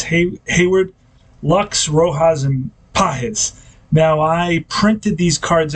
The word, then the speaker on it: Pages: we're doing now uh I've been calling a guy in center field for the Dodgers pages and his name is PES yeah I guess it's a Spanish pronunciation I was not aware